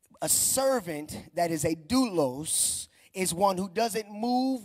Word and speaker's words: doulos: When you look at the word servant in the Greek, it's pronounced doulos. And for my note takers, because I know Utopia is taking notes right now, that is D-O-U-L-O-S, doulos.